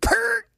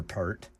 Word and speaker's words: Peart: Neil Peart. The only kind of Peart that's good is for your hair. I don't have any hair, so it doesn't matter. I remember Peart.